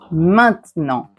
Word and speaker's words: maintenant: d'un mot ou bien si a i n est suivi d'une consonne, vous avez ici les 20 consonnes. Ce sont les lettres qui ne sont pas des voyelles. Vous allez prononcer un.